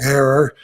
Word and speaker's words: Herer: Depending on where you're at, they say it different from Jack Herer, Herer, Herer, but he used to tell me think of terror.